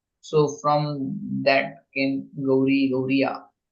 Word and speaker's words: Gaudiya: So from that came Gauri, Gauriya. And Gauriya, they pronounce it Gaudiya.